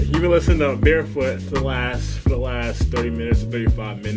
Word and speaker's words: BearfootX: So you don't pronounce the X because the X is just a variable of the unknown in the universe.